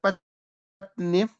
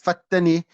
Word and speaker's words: Patni: So Alama Muhammad Tahir Patni. In Arabic they call him Fatani, and some say that you must pronounce it as Fatani, but if you know Hindi, Urdu, then it's Patni.